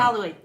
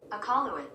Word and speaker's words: Iqaluit: Iqaluit. Say it again. Iqaluit. Iqaluit. Oh, she got it perfectly right. Iqaluit.